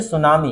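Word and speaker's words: tsunami: आपको पता था कि पहला अक्षर साइलेंट होता है, तो तुमने अंदाजा लगा लिया कि ऐसा साइलेंट होगा, है ना? तुमको पता होगा, है ना? ये नहीं कि पता हो ही नहीं सकता, आपको हो सकता है पता। इसे पढ़ेंगे सुनामी।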